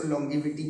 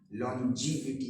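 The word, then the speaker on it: longevity: आमतौर से हम लोग इसको लॉन्जिविटी पढ़ते हैं सब लोग इंडियंस, लेकिन इसका असली प्रोनाउंसिएशन लॉन्जिविटी होता है. GE जहां कहीं भी आएगा, जैसे जेंडर, GEN, जेन पढ़ते हैं जे, तो ऐसे ये जे, लॉन्जिविटी, लंबी उम्र आपको मिल जाएगी.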